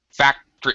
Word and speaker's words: factory: Factory. I don't even say it. That's right. I reduce pronunciation to such a degree that it sounds like two syllables.